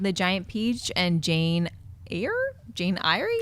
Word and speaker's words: Eyre: Giant Peach and Jane air Jane iy Jane air Jane air yeah just Jane air that's how that's how she likes to go why why didn't she